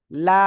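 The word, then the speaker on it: لام: জিহ্বার agar কিনারা উপরে মাড়ির দাঁতের আমরা গোড়ার সাথে লাগাবো, লাগে উচ্চারণ করব, লাম।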